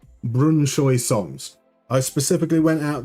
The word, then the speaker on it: Brønshøj: bunker um singing say saying Brunoy like Brunoy. So it rhymes with boy and that means that we finally have possibility for some celebration songs.